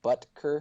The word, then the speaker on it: Butker: Butker? Yeah, butt kicker, I think, is Butker. the official Butt pronunciation.